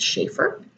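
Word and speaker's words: Schaefer: even bones by Rebecca I think you pronounce it Shaffer which this is a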